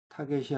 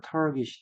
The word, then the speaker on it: target: 타겟이 아니고 target. 음, 잠깐만요. 동사도 발음이 같은가만 보겠습니다. 명사는 target이고요. 동사도 특별한 표시가 없으니까 target이 되겠네요.